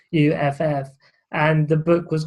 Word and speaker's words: Acuff: There's an author called John Acuff, I think he pronounces his surname Acuff, and the book was called Finish.